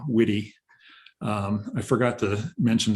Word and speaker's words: Witte: my my name uh my last name does have two syllables witty um i forgot to